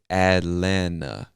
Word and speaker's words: Atlanta: in this word elena we don't pronounce either one of them say atlanta atlanta atlanta georgia now